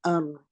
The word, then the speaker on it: ر: You place a hamza before raw, give the raw a sukoon, and say ar. Ar. Don't make the trilling. Don't say ar. That's wrong.